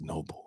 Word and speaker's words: Noble: spelled my name wrong it's noble not nobel anyway she said i